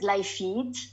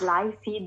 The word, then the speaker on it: Lifeed: yeah the actually we i i pronounce it live feed but sometimes someone says life feed the life that is